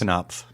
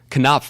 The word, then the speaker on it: Knopf: Knopf. Knopf, one of my favorite words to say out loud. Yes. Joe Hagan, Just welcome. found out I've been mispronouncing that. It's for Knopf, man.